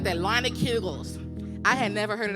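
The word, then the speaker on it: Leinenkugel's: Yeah, you gotta say it like that, Leinekugels.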